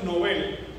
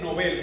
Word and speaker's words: Nobel: Qué interesante que cuando usted estudia los premios Nobel, aclaro, se dice Nobel, no se dice premios Nobel, es premios Nobel, en apellido a un señor que es así, Nobel.